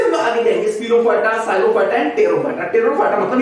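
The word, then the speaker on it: Psilophyta: Phylum साइलोफाइटा, इसमें P silent है, okay, साइलोफाइटा and whisk ferns इनको कहा जाता है।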